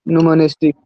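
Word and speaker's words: numismatics: इसको क्या बोल दोगे, न्यूमनिस्टिक। न्यूमोनेस्टिक। स्पेलिंग थोड़ा बाबू ना देख लेना, ऐसे प्रोनाउंसिएशन सही है, इसको न्यूमोनेस्टिक बोलते हैं।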